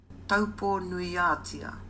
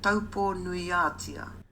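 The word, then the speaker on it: Taupō-nui-a-Tia: 여기서 다시 한번 아까 그 마오리 아주머니의 발음으로 타우포의 제대로 된 이름을 한번 들어보시죠. Taupo nuiatia. Taupo nuiatia.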